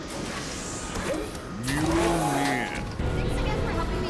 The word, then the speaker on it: Mjolnir: Milner. Mjolnir.